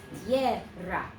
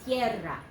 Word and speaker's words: tierra: And this one has 2 syllables here and here. And the second syllable does have the rolled R if you can do it. Tierra. Okay, repitan. Tierra.